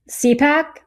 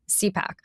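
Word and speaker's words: CIPAC: Trump disbanded an entity called is it CYPAC? C I P A C. How do you pronounce it? CPAC. CPAC, which enabled the sharing of information between the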